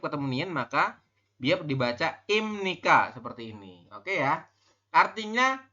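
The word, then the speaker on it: 입니까: Ini imnika, bukan ipnika tapi imnika. Kenapa biap ini di akhir berubah bunyi menjadi m ya?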